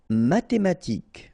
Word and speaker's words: mathématique: Mathématique, remember, H doesn't exist, so ma-té-ma-tique, remember, Q-U-E at the end, K, mathématique. Médical.